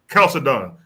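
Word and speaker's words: Chalcedon: of that council of Chald and how you pronounce it when Caledon that's the council that made him flee into Ethiopia.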